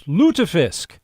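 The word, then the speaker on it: Lutefisk: It's Lutafisk. And I I would have been right, by the way. That is the way I was going to say it. The Sons of Norway Lutafisk and Swedish meatball dinner coming up on the 31st.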